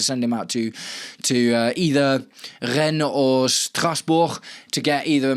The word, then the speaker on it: Rennes: Chelsea will hold more talks this weekend in the hope of convincing Rennes. I've been saying it wrong. I've been saying Rennes. It's Rennes to sell Jacquet this window.